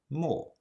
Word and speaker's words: 没: It was pronounced mo.